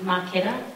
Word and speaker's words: Marchetta: is my mum Del Mar kiddo and it's pronounced my kid it by the way I